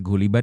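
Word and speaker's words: غُلِبَت: para uyiraet yang membacanya dengan lafaz gulibat dikalahkan bukan galabat yang berarti mengalahkan bila demikian halnya maka maksud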